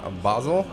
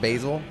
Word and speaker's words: Basel: Of the Upper Strata, in from Basel. Basel, Switzerland. Yeah. Basel, Switzerland. What's the other way people pronounce it? Basil? No, that's what you put on pizzas and stuff. Yeah. It's something different. Something different entirely.